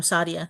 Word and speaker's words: Saadia: It's the way you said it the first time, Sadia.